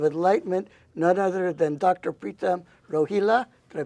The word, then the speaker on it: Pritam Rohila: some semblance of Enlightenment none other than Dr pram roila did I pronounce it right yes okay and I want